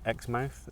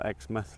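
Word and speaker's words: Exmouth: Our end destination is Xmouth as they pronounce it or Xmouth like we have in England.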